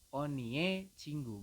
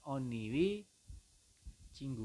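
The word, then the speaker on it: 언니의 친구: Nah, tulisannya oni cinggu, tapi Anda membacanya adalah onie cinggu, bukan oniwi cinggu, bukan ya. Tapi Anda membacanya adalah onie cinggu seperti itu.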